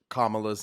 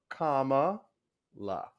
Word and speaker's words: Kamala: because I to get kamala's name wrong and I just wanted to provide a visual aid for those who still get it wrong it is Comm La Kamala Kamala if you have to